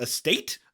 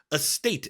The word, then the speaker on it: AST8: Estate? Estate is what I'm going to call it because that sounds like the word estate, like a big old fancy mansion.